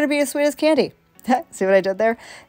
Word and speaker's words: Kande: So it's K and E, but it's pronounced Candy.